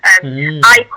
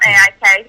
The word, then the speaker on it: AIK: now the captain at AIK, as it's pronounced, not AIK, as a spoke to some Swedish people.